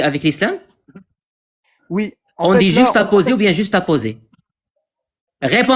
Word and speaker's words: juxtaposé: On dit juxtaposé ou bien juxtaposé? Réponds à ma question, tu sais même pas le prononcer.